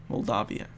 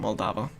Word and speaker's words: Moldavia: Or Moldavia. Moldavia. As I was saying Moldava.